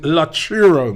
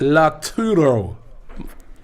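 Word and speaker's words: Lautaro: he says robbie can you please stop saying la churro martinez it's pronounced la turo cheers for the entire team at af tv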